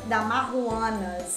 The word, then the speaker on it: Damajuana: vinho a gente vai falar hoje sobre a dar uma Huanna né É assim mesmo deixar aqui como se escreve mas é uma palavra que em espanhol